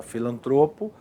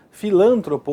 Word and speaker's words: filantropo: Essas palavras são paroxítonas, tá vendo? A sílaba tônica ali em azulzinho, ó. Porém, são normalmente transformadas em proparoxítonas, o que significa o que configura um erro de prosódia, um erro de pronúncia. Como assim? Aqui, ó. Então, é muito comum você ouvir a pessoa falar, né? Filântropo ou record ou rúbrica líbido e púdico. Errado.